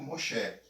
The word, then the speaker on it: Moshe: O nome de Moisés se pronuncia em hebraico Moshe.